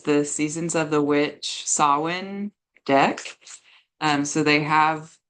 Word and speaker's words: Samhain: the pagan holidays and sawin is like a Gaelic word um so it's spelled differently than how it sounds and Mark joked